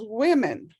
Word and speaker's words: women: pronounce the w-o-n-e-n as women women yeah you don't pronounce them the same or even close to the same that whoa whoa it